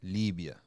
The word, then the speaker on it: Libya: Another very, very sad situation is happening in the neighboring country of Libya, or as they pronounce it, Libya.